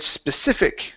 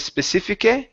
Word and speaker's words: specific: to um the word specific right here instead of specific it's specific end on that c sound okay specific uhuh one